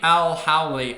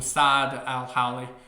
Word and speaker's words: El-Hawli: Zack Reed doesn't matter s Al Howley I think is how you say it or sad Al Howley what a player this